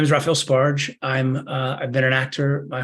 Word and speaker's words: Sbarge: Raphael Sbarge, I think I pronounced it correctly, S-B-A-R-G-E, not Yes, Sbarge.